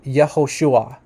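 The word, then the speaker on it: יהושע: do says here that the classical pronunciation which means like the preexilic name of of Yeshua is actually yahushua yahushua okay so this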